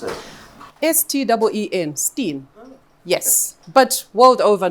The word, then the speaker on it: Steen: So if you hear Steen, the name Steen being thrown How around, do you pronounce it? S-T-E-E-N, Steen.